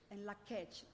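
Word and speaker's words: In Lak'ech: Can somebody pronounce it for me? And Lakech.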